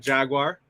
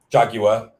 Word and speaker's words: Jaguar: You got Jaguar. Jaguar. I'm North American. Let me have it. No, Jaguar.